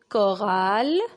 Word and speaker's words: chorale: là avec un cac alors un orchestre une chorale une chorale un chronomètre un chronomètre chloé est